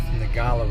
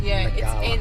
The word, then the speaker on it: Ngkala: It's called South Ngkala Rocks. It's spelt weird with a G and a K, but I'm pretty sure it's pronounced Ngkala. It's Ngkala or something.